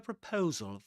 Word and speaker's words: proposal: We have a proposal for you. Proposal. Proposal. Does he but proposal with a schwa at the beginning.